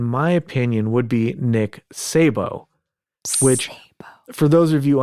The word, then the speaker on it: Szabo: opinion, would be Nick Szabo, which, for those of you unfamiliar, if you want to Google this stuff or whatever, it's spelled SZABO, which is why Agent Ether was having trouble pronouncing it earlier.